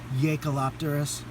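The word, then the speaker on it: Jaekelopterus: largest one I believe it starts with the Y sound it's spelled j-a-e so I believe it's yakalopterus uh and those can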